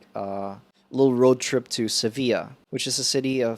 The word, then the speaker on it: Sevilla: so it's yeah it's it's called seville in english in english at seville and then in spanish it's sevilla yeah so for future